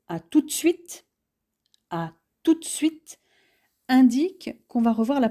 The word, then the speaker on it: à tout de suite: À tout de suite, qui se prononce plutôt à tout de suite, indique qu'on va revoir